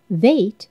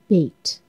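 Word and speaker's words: בית: of an ox head vait is the second letter it is also pronounced bait it is a picture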